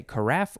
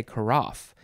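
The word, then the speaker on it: carafe: know okay next is karaf you could say karaf or you could say karaf if you want to sound a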